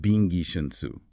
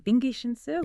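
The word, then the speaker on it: 兵贵神速: end a 3-hour meeting is pronounced bingi shensu. Okay, bingi shensu. Yeah, let me break down the phonetics for you again, just a bit slower. It's bingi shensu.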